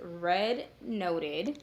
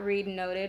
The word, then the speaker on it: readnoted: I am mainly on Instagram so it is red noted it is pronounced R noted not read noted as I have noticed that everybody thinks it